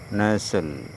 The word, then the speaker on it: nestle: কোনো শব্দের শেষে এস-টি-এল-ই থাকলে সেখানে টি অনুচ্চারিত থাকে এবং উচ্চারণটি সল এর মতো হয়।